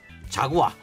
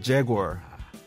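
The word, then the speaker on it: Jaguar: 원래 잘못된 영어로 제가 발음을 할게요. 우리 박희수 기자가 제대로 된 영어를 해주세요. 자, 벤츠. 벤츠 아니고요. 머시디스. 자구아. 자구 아니고요. 제구어.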